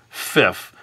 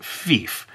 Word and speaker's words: Fief: But for an American, they might accidentally pronounce it as Fif instead of Fief. Now, you could also spell it like this, F-I-E-F, and say this should be pronounced Fief. But again, some people might pronounce it as Fife, and then you're struggling correcting them all the time.